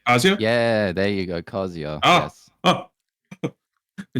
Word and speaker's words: Kazuya: Yeah, there you go, Kazuya.